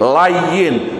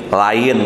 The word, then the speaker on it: layyin: Bacanya pakai tasjid. Hayyin, layyin, bukan hayyin, lain, bukan gitu.